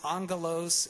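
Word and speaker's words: ἄγγελος: And so a lot of folks know that the Greek word for angel is pronounced angelos, and it literally means messenger.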